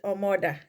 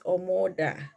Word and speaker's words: Omoda: I read it I read it omod the first time I even saw the car but then when I went on YouTube you know when you go on YouTube to ask how do you pronounce a name they make it sound like it's omoda okay because it's a Chinese name apparently it's a Chinese